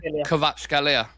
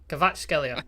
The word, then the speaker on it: Kvaratskhelia: If you could just pronounce his name, Shreyas. Wait, Kvaratskhelia. Kvaratskhelia.